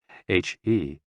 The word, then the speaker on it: HE: HE, pronounced like her, with a yawn, which is associated with the heart.